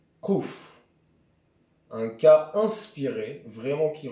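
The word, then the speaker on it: קוף: Seuls certains anciens Marocains ou juifs du Yémen prononcent le kouf comme il devrait être prononcé, à savoir kouf.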